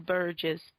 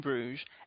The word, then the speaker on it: Bruges: In Burgess. It's pronounced Bruges, Kat.